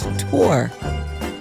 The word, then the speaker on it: Thor: a nephew whose name is Thor but it's pronounced Tor basically I I if I said that you